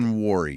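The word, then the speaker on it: Emanwori: Is that how he pronounces it? I know we've gone back. Emanwuri, yes.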